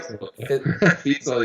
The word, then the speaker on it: Fisel: Fisel. Did I say it right? Fisel, yeah.